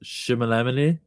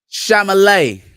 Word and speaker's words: Chalamet: How you mispronounce it? Shimalamine? Chalamet.